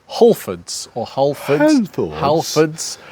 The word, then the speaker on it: Halfords: How we pronounced Halfords or Halfords. Halfords.